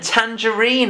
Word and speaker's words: tangerine: Now, Geraldine, as well as it being an orange, it is also a tangerine. And tangerine has the J sound made with a soft G.